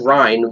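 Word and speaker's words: Reyn: When I first read the name, I read Rain, but that was because I was an idiot that never played the game. But it's spelled R-E-Y-N. So maybe that can kind of slide, because that could work. It kind of does spell rain, but, like, it's pronounced Rhine.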